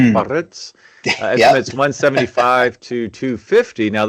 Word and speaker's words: Biarritz: You got to roll your R's. Biarritz.